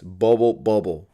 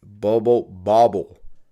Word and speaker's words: Bubble Bobble: because a lot of people think it's bubble bubble like the same word right but it's bubble bubble that recently it made